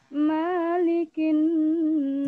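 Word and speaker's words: مَلِكِ النَّاسِ: Ingat, mim di situ pendek. Ya, jangan malikin, tapi malikin nas. Oke, lanjut. Ulang. Malikin. Nah, kan masih pendek. Mimnya pendek. Bacanya malikin nas, bukan malikin nas.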